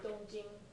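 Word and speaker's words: 东京: Okay, so, and in China, they would refer to Tokyo by its Chinese pronunciation of this compound, Which is. which is, they would say Dongjing instead of Tokyo.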